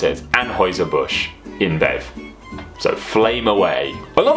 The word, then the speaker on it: Anheuser-Busch InBev: I'm going with my German A level and going to pronounce it as Anheuser-Busch InBev.